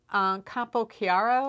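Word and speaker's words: Campochiaro: and it's by Cecilia capo chiaro I believe is how she would pronounce her last name so sequence and she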